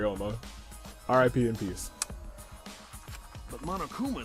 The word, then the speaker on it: Ouma: window Toriyama slab okay I've been pronouncing our rival the whole time Ryoma sorry Bri Ouma r.i.p in peace but